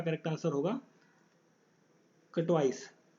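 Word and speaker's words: Katowice: तो इसका जो होस्ट किसने किया है, तो 131 का करेक्ट आंसर होगा कटवाइस, केटोविश आप इसे प्रोनाउंस कर सकते हैं, केटोविश जो जगह है वहाँ पर हुआ है।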